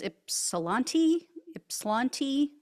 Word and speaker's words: Ypsilanti: This is in, I believe it's pronounced Ypsilanti.